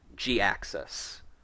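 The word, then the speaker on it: Jhiaxus: name is spelled but it is pronounced g axis uh so yeah i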